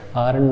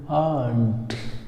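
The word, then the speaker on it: aren't: आरंट नहीं दोस्तों, इसको पढ़ेंगे आंट, आंट। और इसका जब आप देखेंगे वहाँ लिखना चाहेंगे तो इसका प्रोनाउंसिएशन आपको ऐसे मिलेगा, कुछ ऐसा लिखा हुआ होगा। यहाँ भी आर साउंड जो है वो साइलेंट रहता है, क्या पढ़ेंगे? आंट।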